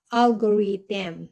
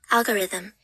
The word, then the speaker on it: algorithm: so hindi po siya algorithm So yung TH po ay isaisip natin ay ang bigkas ay letter D Ayan pakinggan natin siogo Ayan algorithm ngayon pangatlo business sweet